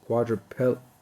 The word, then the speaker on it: quadriplegic: So quadriplegic been pronouncing it wrong here.